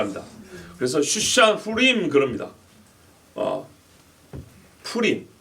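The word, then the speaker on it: Purim: 푸림, F 발음이 아니죠. 푸림이죠.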